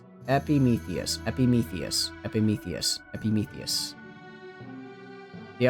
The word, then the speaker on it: Epimetheus: Epimetheus. Epimetheus.